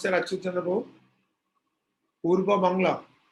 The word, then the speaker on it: Purba Bangla: So how do you pronounce that, Achyut Chandra Prabhu? Purba Bangla. Purva Bangla.